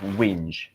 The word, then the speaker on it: whinge: It looks a bit of a tricky word to pronounce, but it's whinge.